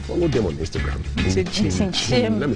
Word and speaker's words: Nkyim: Chin. Let me spell it for you.